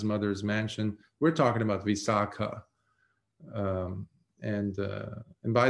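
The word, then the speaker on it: Visākhā: Mansion we're talking about visaka um and uh and by the way when you have the last syllable or letter elongated with the diacritical mark like in this case it's visak versus visak um in Ancient India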